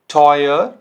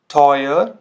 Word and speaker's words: teuer: जैसे heute, heute, teuer, teuer, Bäume, Bäume। तो ये साउंड कैसे कर रहा है, ओए।